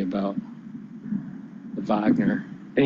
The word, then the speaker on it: Wagner: to say about the Wagner and he doesn't even say Weidner he uses Wagner he pronounces it Wagner which is really the the English way to say it Wagner it's the German Way but uh that's my